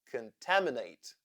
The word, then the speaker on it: contaminate: syllables in this word contate we have four syllables the second is stressed and the fourth is a vowel consonant e syllable therefore the third syllable has the schw sound contate contaminate there is